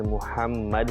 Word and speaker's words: محمد: عربی لفظ کے تلفظ کے اعتبار سے چونکہ محمد ہے، میم پر جو ہے وہ پیش ہے، اس اعتبار سے زیادہ بہتر تلفظ کے اعتبار سے ایم یو اسپیلنگ جو ہے وہ زیادہ بہتر ہے.